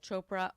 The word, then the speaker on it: Chopra: You can reach me on Instagram at chopra or beansy legacy. Send me a DM and let's spell that for everybody.